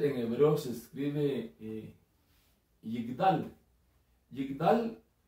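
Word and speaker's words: יגדל: Yigdal se escribe con una Yod, una Gimel, una Dalet y una Lamed. Es Yigdal. La traducción sería Y y latina G-D-A-L, Yigdal.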